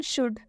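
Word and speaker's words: should: दूसरा वर्ड देखिए, लिखा हुआ है शुड। शुड में यहाँ पर एल और डी दोनों आया है, लेकिन इसका उच्चारण हम करेंगे, इसका उच्चारण शुड। ठीक है, यहाँ पर एल साइलेंट हुआ है।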